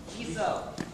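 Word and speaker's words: Chisso: This company, and I'm not sure, maybe somebody from Japan can pronounce this for me, is it Chiso or Siso? Chiso.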